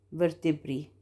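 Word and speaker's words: vertebrae: لو الكلمه اللي عندي السنجلر اخرها ايه، اخرها ايه زي برتبرا او برسا، هتبقى في الجمع هتبقى ايه، اي وهتتنطق اي، بيرسي فيرتبري، بيرسي فيرتبري، هزود عليها حرف الاي.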